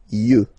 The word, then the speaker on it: yeux: Un œil, des yeux, okay? Don't pronounce the final x as usual. Des yeux, all right?